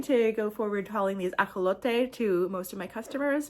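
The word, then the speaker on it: axolotl: Um, so the actual name is pronounced aote and we have kind of adopted that word and pronounced it in our uh in our American way. So I'm not going to go forward calling these aote to most of my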